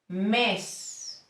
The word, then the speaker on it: mes: the second one a this vowel sounds a little bit like men in English thank you I worked in Spanish we say is for example mess and it means month e mess